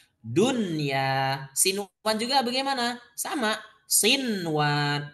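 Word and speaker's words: دنيا: maka jangan diidghamkan, jangan gini, duya, jangan. Ya. Tapi membacanya dengan jelas. Jelas, idhar berarti kan? Dunya.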